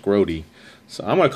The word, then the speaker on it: Grote: Louis Frank group or grube I'm not sure how it's pronounced might be grube the way Jerry grote is pronounced grody so I'm going to